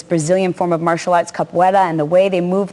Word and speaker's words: capoeira: Capoeira, do I pronounce that correctly?